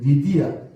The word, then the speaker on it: 루디아: 이게 이 루디아가 교회 안에 보면 한쪽 벽면에 다 이렇게 있는 거예요. 이게 누구다? 루디아지. 이쁜 마나님처럼 생겨요. 리디아. 발음 정확하면 리디아인데 루디아.